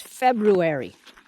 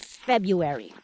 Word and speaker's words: February: I've never forgotten that it is February it's not February it's February I've remembered that all these years and I still get a bit unruly when I hear somebody on the radio or TV pronounce it February didn't you have Miss holsome for fourth grade or a teacher like her that knew the proper pronunciation of February and then I decided